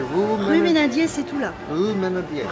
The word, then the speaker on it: Rue Meynadier: How do you say Rue Ménadier, c'est tout là. Rue Meander. Rue Ménadier.